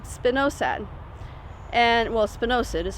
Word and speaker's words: spinosad: And, well, spinosad is how you say it.